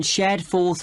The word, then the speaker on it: Shadforth: the address of kangaroo Lodge yes it's on shadforth Lane can you spell that s h a d f o r